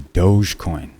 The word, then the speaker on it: Dogecoin: one what's up with the dogecoin or doggy coin or dog e coin or as they say it's pronounced doge coin anyway it's a dog